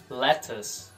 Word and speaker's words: lettuce: Alface em inglês é lettuce. Lettuce. Ou você pode pronunciar com o T mais forte, um pouquinho mais marcado. Lettuce.